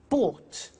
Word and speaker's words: bought: to the pronunciation bu bought you notice that o u g HT is pronounced ought buy bought come came